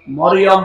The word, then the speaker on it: মারিয়াম: না, তাহলে গুনাহ হবে, মারিয়াম বলা যাবে। এই কথা বুঝতেছে? কি বলা লাগবে? কারণ এই শব্দটা আল্লাহ কোরআনে দিয়েছেন, একটা সূরায় নাযিল করেছেন, সূরা মারিয়াম। আপনার 40টা নেকি হবে এই শব্দটা উচ্চারণ করুন। মিম র ইয়া মিম, মারিয়াম, 40টা নেকি পাবে না। যদি মরিয়ম বলে 40টা গুনাহ হবে, কারণ অর্থ বিকৃত হয়ে গেছে।